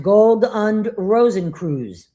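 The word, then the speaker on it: Gold- und Rosenkreuz: The Order of the Golden and Rosy Cross, pronounced Gold und Rosenkreuz, an 18th century German Rosicrucian order with alchemical and Masonic influences.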